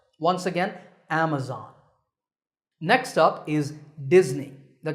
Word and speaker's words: Amazon: internet shopping giant Amazon this word is commonly mispronounced Amazon when you say it correctly the first syllable is app and the stress is on this first syllable so Amazon is correct